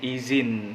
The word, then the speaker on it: izin: meminta izin nah Hai bukan ijinnya teman-teman tapi izin pakai Z sering dirubah Z yaitu memakai huruf j jadi izin gitu Nah